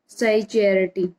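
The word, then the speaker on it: psychiatry: हैं, इसको बोलते हैं साइकियाट्री। तो स्टूडेंट इसमें पी साइलेंट होता है, तो ये वर्ड हमारा क्या स्पीक किया जाता है? साइकियाट्री।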